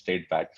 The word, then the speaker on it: str8bat: Today we are going to talk about the str8bat, str8bat, which is pronounced as str8bat.